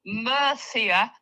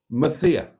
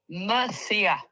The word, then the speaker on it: Mercia: No, it's No, Mercia. Say it. Mathia. No, Mercia. They're saying it's not. They're saying it's pronounced the, and I thought it was pronounced the.